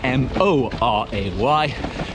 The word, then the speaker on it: Moray: Moray is spelt Moray, M-O-R-A-Y, but it's said Moray.